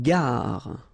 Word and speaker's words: gare: Une gare. Okay, remember when you get these G and A together, the sound is g, ga, ga. Une gare. Final E not pronounced. Une gare.